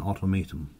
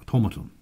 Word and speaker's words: automaton: a little more than an automatium automaton automaton sorry that's the way to pronounce it automaton right so if any